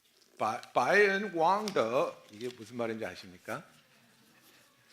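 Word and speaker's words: 背恩忘德: 그 바이엔 왕더 이게 무슨 말인지 아십니까? 중국식으로 배은 망덕을 제가 발음해 봤습니다. 예, 그 덕이 더 이렇게 내려가야 돼요.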